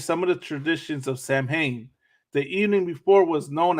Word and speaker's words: Samhain: So Samhain, a Gaelic word pronounced Samhain, is a pagan religious festival originating from an ancient Celtic spiritual tradition.